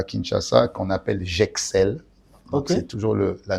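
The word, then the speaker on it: Jexel: J'Excelle.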